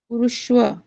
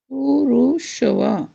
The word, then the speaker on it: पुरुष: पुरुष यह होना चाहिए। नहीं, पुरुष होने के नाते मेरा ही है, है ना? कुरु कुरुश रु- उसके बाद, उच्चारण किया जाएगा पुरुष कुरुश पुरुष पुरूष लंबे समय तक नहीं।